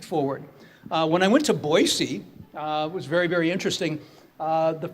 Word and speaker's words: Boise: of the word it is supposed to be pronounced like Boise not Boise so get with it young man so that